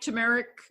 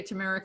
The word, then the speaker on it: turmeric: wonder yeah absolutely and like turmeric or turmeric you say turmeric i say tumeric i'm not sure it's if they're both okay but i've heard them pronounce both ways um they both have